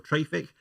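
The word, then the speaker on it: Traefik: who make it and i asked them how to pronounce it whether it was traffic or traffic and they said it's traffic but not quite so i'm just going to keep saying traffic what traffic does is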